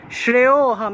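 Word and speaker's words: শ্রেয়োঽহম্: থাকায় অ উচ্চারণ হয়, এই যে লুপ্ত অ থাকায় এখানে একটা টান দিতে হবে, সেখানে আলাদা করে অ উচ্চারণ করতে হবে না, ওটা একটু কেটে দিই আপনাদের, একটু ঠিক করে দিই।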